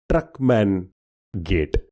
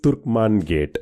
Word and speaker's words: Turkman Gate: So in William Dalimple's book he says that people sometimes mis hear or misquote or mispronounce the name as Truckman gate whereas it is Turkman gate.